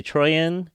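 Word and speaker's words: Troian: is very cool starring how do you say troyan yeah troyan Bellisario and Brandon Lin yeah so they're they're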